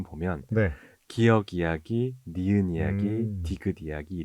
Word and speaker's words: 기역: 없어서 많은 고민을 하다가 가장 비슷한 발음의 한자어였던 역을 가져왔었다고 합니다 그래서 기억이 되었는데 재밌는 건 북한에서는 지금 기억이 아니라 기윽으로 읽고 있다고